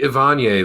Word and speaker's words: Evanier: We'll just say Ivanier, like Perrier, the water.